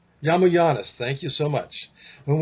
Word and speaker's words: Yiamouyiannis: Is that the correct pronunciation? Yiamouyiannis. Yiamouyiannis, thank you so much.